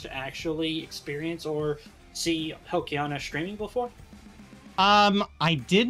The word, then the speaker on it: Helkhiana: and was all like, no, it's Helkhiana, where I actually heard you say it officially, that got me to properly pronounce it.